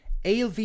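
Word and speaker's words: Ailbhe: of music is by alv reddy it took me a while to pronounce her name it'll be a i l b h e uh she's an indie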